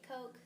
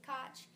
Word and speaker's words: Koch: of confusion regarding how his last name is pronounced some people say cook some people say coke some people say koch so depending on your teacher you might hear